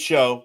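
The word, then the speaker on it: Shough: It's Show. Yeah, Tyler Show.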